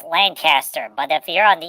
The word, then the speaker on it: Lancaster: Oh yeah, but yeah, her blood boils when you mispronounce Lancaster. I said it right. Nothing's being flown my way. Hello, Stark of. It's Lancaster.